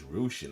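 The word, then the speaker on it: Rushen: go on to coite still in love I pronounced her last name totally wrong I'm been saying Russian it's Rian okay I proun her last name completely wrong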